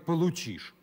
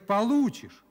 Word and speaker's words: получишь: Николай Владимирович, нельзя говорить «получишь». Надо говорить «получишь». Вы неправильно ударение ставите.